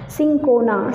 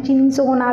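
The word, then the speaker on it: Cinchona: सिंकोना, सम बच्चे उनका pronunciation चिंसोना भी करते हैं बट इट इज़ not right pronunciation.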